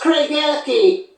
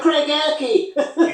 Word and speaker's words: Craigellachie: It's pronounced Craigellachie. Cragalachi. Yeah, Craigellachie.